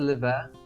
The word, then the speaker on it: L'Hiver: __ ] you know I think I think actually DL is actually is actually not pronounced but I just pronounced it I don't worry because it's sweet so every time I just said liver and you were complaining I was actually saying it right ah